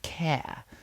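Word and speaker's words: Caer: Angus Arg and his beloved care, pronounced care, who could only take human form one day a year, who lived as a swan the rest of the time.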